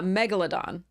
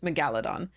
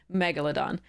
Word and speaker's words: Megalodon: correct pronunciation is uh Megalodon so the emphasis is on the first syllable um so because it